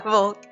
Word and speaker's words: Volk: It is Volk. That's how you pronounce his name, right? Yeah, Volk.